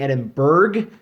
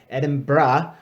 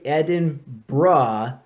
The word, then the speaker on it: Edinburgh: entire summer now no it's pronounced with the scottish burr is pronounced not bird if you go around saying edinburgh you're going to sound weird so don't do that edinburgh you can roll your